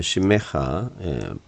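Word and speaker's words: שמך: 자, 페네 엘라이 베 혼네니 케 미시파트 레 오하바이 심메하 이거 발음해야 되네요. 심메하 음절이 끊어지는 게 아니고 심메하 이렇게 되니까 심메하 어떤 심메하 자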